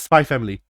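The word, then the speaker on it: Spy × Family: It's Spy Family. Spy Family. Spy yeah, the X is silent.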